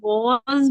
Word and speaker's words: was: ये वाज नहीं है, वास या वाज, ये वॉज।